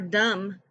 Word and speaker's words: dumb: second s is silent for dumb the b is silent for knob the k